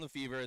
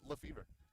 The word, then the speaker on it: Lefevre: By the way, we know that Ben has a French last name, but when we asked their team how to pronounce it, they said it's Ben Lefevre.